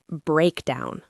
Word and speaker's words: breakdown: Breakdown. Breakdown. The stress is on the first syllable.